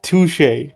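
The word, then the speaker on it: touché: girl good idea toay that's not how you say it that's how you said it's touche not to to what if I to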